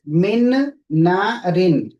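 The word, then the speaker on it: مِن نَارٍ: Okay, here in the Quran, you will find it's written like this, min na rin. So see here, the noon is clearly written, but when we read the Quran, we don't read this noon. We skip this noon, and instead of this, okay, we put the shadda on the next noon and we read min narin like this. Min narin with ghunna. Min narin, not min narin.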